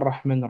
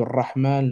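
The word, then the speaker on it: الرحمن: Quand vous prenez Bismillahir Rahmanir Rahim, la lettre R qui est ici, lorsque vous la prononcez comme un R roulé normalement, un R comme à l'espagnol, hein, le Ra de Rahman, le Ra de Rahim.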